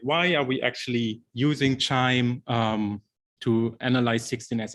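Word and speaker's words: QIIME: are we actually using chime um to analyze 16 as amplicon data because you know there's a lot of other ways to do it um so first of all it's pronounced like wind chime so that's when the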